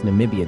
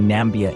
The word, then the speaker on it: Namibia: memorable moment came when Trump reportedly couldn't pronounce Namibia during a speech saying nambia instead namibians took it in